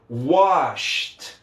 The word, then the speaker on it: washed: Então wash termina com SH. Aí eu vou colocar ele no passado, né, colocar o ED aqui, e depois do SH, o ED tem som de T. Então vai ficar washed, washed, washed.